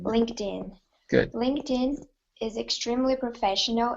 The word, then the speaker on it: LinkedIn: I know it looks like linked but it's pronounced linked LinkedIn LinkedIn LinkedIn good LinkedIn is extremely professional and easy to